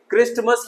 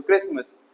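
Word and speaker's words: Christmas: यहां देखेंगे क्रिस्टमस नहीं है, टी साइलेंट हो गया तो क्रिसमस।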